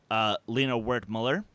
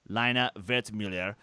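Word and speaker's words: Lina Wertmüller: year that cast included Lena wert Muller well okay if you want to be technical with pronunciation lino vet Miller but who's paying attention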